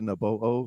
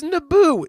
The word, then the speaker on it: Naboo: to naboho skywalker to naboho like the planet it's it's naboo did you just call naboo na bo hey i don't listen